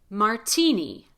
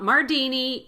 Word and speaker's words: martini: So we say martini, not Mardini. Even though it's an RT between vowels, we don't say Mardini, we say martini, because the T is at the beginning of the strongest syllable.